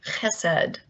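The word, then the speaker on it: חסד: in all of language i will slaughter the pronunciation because it has a guttural in it something like hesed and it means a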